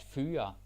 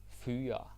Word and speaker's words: fyre: At fyre. At fyre. To fire. So it's easy, right? Because it rhymes. Hyre, fyre, hire, fire.